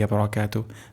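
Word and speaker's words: وبركاته: আরেকবার উচ্চারণ করছি। আসসালামু আলাইকা আইয়ুহান নাবু ওয়ারাহমাতুল্লাহি ওয়াবারাকাতুহ তাহলে আমরা এটির অর্থ আমরা জেনে নেই আসসালামু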